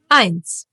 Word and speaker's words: eins: eins E and I together get pronounced as I. Like in sky, for example.